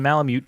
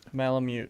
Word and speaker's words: Malamute: She had a little Yorkie that was eaten by the Alaskan Malamute down the street.